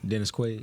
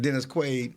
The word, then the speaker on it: Dennis Quaid: for who's the um I said his name wrong Dennis Quade Dennis Quaid he he broke up